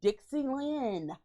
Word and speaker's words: Dick Z. Lenn: When we get back, we're going to have an interview with the Dixie Lenn.